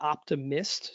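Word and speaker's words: Optimyst: Yeah, but the short version of that is look at the Optimist. So it's OPTI, and then it's spelled funny, MYST, Optimist fireplace.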